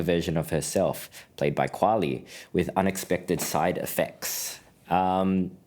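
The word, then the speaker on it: Qualley: the plot follows of it's Margaret quy sorry Demi Moore Margaret quali and Dennis quad Dennis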